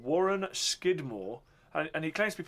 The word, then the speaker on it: Scudamore: No, Skidmore was the original pronunciation. And over the years, I suppose like all people, the way they formed their letters changed, and so Skidmore became Scudamore.